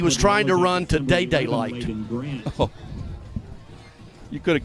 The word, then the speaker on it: Dada: Day-Day. Day-Day. Day-Day. D-A-D-A, pronounced Day-Day.